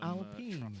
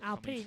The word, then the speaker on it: Alpine: And talking of pronunciation, it's Alpine. Alpine, yeah, not Alpine. It's Alpine, isn't it?